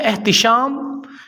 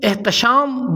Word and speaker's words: احتشام: کے ساتھ۔ نام ہے احتشام۔ اس کا معنی ہے وزاداری۔ اس کو بھی عموماً احتشام بولا جاتا ہے، تا پر زبر کے ساتھ، حالانکہ درست تلفظ احتشام ہے، تا کے نیچے زیر کے ساتھ۔ نام ہے مبارک۔ اس